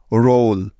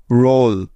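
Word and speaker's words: roll: অর্থাৎ যেখানেই পাবে ও ডাবল এল একসাথে সেখানেই তার উচ্চারণ করব ওল এর মতো, তাই তো? তাহলে আর ও ডাবল এল একত্রে মিলে হয়ে গেল রোল, রোল। অর্থাৎ আরতে র এবং ও ডাবল এলতে ওল, রোল।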